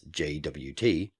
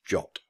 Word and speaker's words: JWT: pronounced in full as JWT or abbreviated as jot with jot being the suggested pronunciation from the original Json web token standard I've heard many other